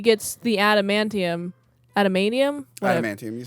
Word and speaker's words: adamantium: is when he gets the adamantium Adam manum adamantium you said it right adamantium into his bones